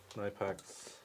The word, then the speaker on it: Knipex: Oh yeah, it's all about nipex. Tell us about your pinchy boys. Knipex. Nipex. Side cutters. Side cutters. Kipex. Sorry, that's from drinks. They pronounce the K in Germany.